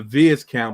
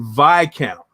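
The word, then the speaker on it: Viscount: a timex vi count i was rudely uh corrected on this on my channel when i called it a vids count because it's spelled v-i-s-c-o-u-n-t it's actually vi count you know what i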